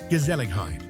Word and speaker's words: Gezelligheid: Pronounced roughly Gezelligheid.